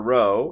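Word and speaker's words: rho: This is the Greek letter row. That's how you say it.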